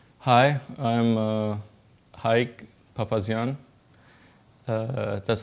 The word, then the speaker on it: Haig: Uh, Usually everybody messes it up here. They say Haig or Hug or Aik or Papazian, Papazian, all of it. So one more time, it's Papazian and it's Haig Papazian.